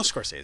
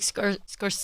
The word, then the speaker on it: Scorsese: Maybe if your name ends in a vowel. Some people say like Scorsese. Scorsese. Right? So I was like, Scorsese.